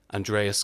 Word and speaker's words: Andreas: Greek translation or something like that but it's pronounced Andreas for music it's yeah it's it's the um